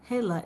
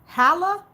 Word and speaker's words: Hala: like no it's okay not haa it's h hella okay haa hey Hala okay I'm just GNA stop